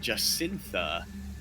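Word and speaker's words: Jagannatha: It is pronounced Jacintha, like the Prime Minister of New Zealand.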